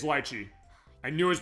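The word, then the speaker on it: Litchi: like huh no it's teach me Miss Liy it's lchi I knew I was pronouncing that wrong we're just here to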